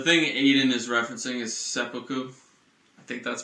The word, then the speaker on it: seppuku: The thing Aiden is referencing is seppuku. I think that's pronounced correctly.